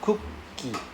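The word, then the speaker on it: クッキー: So we borrow the K we take the first K to pronounce it together with the first half. So ku, cook. Right? K-U-K, cook. Ki. Ki. Right? So cookie. Right? So you hold back a bit of breath.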